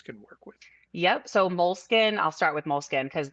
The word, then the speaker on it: Moleskine: also heard them pronounced Moleskine. So yeah, so What's the controversy? Moleskin is an Italian brand. So Right, the Italians say, Moleskin, but right. you could just say Moleskin. It's okay.